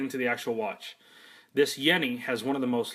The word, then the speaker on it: Jenny: not the Forest Gump Jenny that uh that you're used to this is a Yenni and it's pronounced with a Y as far as the